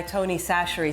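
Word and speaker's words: Tony Chachere's: I get it I often don't measure my Tony sasher seasoning is that how you say it yeah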